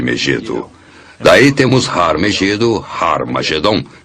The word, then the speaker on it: Harmagedon: som aspirado no início, que significa que era pronunciada com H. Originalmente era Harmagedon, e é muito fácil passar de Har Megido para Harmagedon.